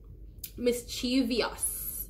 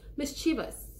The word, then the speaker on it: mischievous: trying to get across today is it's not mischievious I know there is an i right it